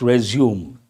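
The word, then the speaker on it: résumé: already given the word resume actual word one meaning resume means your biodata but French word resum how are you supposed to pronounce that resum but Americans have made it resume but resume has two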